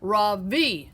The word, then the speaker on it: Ravi: his name again yeah raw v remember the accent is on the last part ravi moved to the